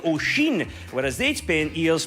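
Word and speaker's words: Oisín: Their son's name is spelled O I S O N, which is meant to sound like Oshin, whereas they'd spent years pronouncing it bobby.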